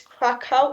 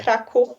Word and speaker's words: Kraków: We have two ways. It's Krakow in English, and it's Okay. Kraków in Polish.